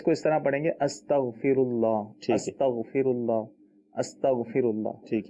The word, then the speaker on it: استغفر اللہ: تو جب عربی میں کہیں گے تو اس کو اس طرح کہیں گے استغفر اللہ، ٹھیک ہے.